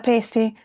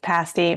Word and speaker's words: pasty: word on the screen and say pasty. And it's not a pasty, it's a pasty, but forgive me, it's also spelled the same way.